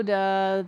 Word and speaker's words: to: I'm going to go to the mountains. Go to the mountains. Go to. The word to becomes duh. This is very common after the verb go.